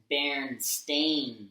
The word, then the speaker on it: Berenstain: Berenstain Bears. Yeah, Stain. I'm not calling them that. Yeah, I was like, no, they will always be Berenstain Bears.